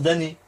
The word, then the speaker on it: damné: Oui, mais ça se prononce damné. Non, ça c'est. C'est comme. Non, c'est damné. Mais c'est comme le mot compte, tu vas pas dire compte. C'est con.